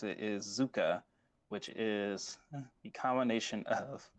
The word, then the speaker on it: Zukka: The next one is, I believe this is the way that you like me to pronounce it, is Zukka, which is the combination of Zuko and Sokka.